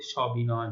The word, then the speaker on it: সবিনয়: তেমনি করে দেখো সহবাস সহিত অর্থে এখানে স রয়েছে, সবিনয়, বিনয়ের সাথে, বিনয়ের সহিত, তো সেই জন্য স এর উচ্চারণটি অ এর মতোই হচ্ছে, স্বাভাবিক হচ্ছে, যেটাকে আমরা বিবৃত বলে থাকছি।